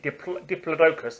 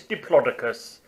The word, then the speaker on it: Diplodocus: and his Diplodocus no I always used to pronounce it Diplodocus and sometimes I still say deeply focused because